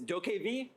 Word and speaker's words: DokeV: Técnicamente es de pronounced Dokev.